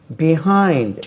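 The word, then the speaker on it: behind: before 8:00 pm தென் பிஹைண்ட் உச்சரிப்பை கவனிங்க பிஹைண்ட் pitch I என் D stress lies on the second syllable பிஹைண்ட் அது பிஹைண்ட் பிஹைண்ட் பிஹைண்ட்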